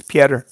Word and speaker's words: Petr: O-T-R is Peter. P-E-T-R. Peter. Nope, it's Piotr. It's pronounced Piotr.